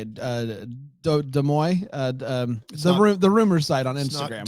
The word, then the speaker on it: Des Moines: Des Moines, the rumor site on Instagram. Oh, you follow Des Moines? Yeah, Des Moines.